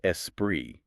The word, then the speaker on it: esprit: hand, a dash of esprit, and that's spelled E-S-S-P-R-E-E. Esprit. They needed a rhyme for sea and, spirit doesn't rhyme. Esprit, the French word, sort of rhymes, but maybe that felt